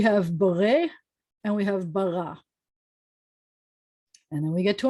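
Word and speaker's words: בָּרָא: um so um we the aleph at the end of word is silent so we have beret and we have bara and then we get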